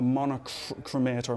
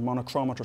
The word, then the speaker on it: monochromator: light source we have something called a monochromator monochrometer sometimes is how it's pronounced and what that does